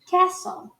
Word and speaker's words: castle: Castelo no inglês americano fica castle. Perceba que está escrito com A, mas a gente fala E, ó. Castle. E perceba que o T também não é pronunciado.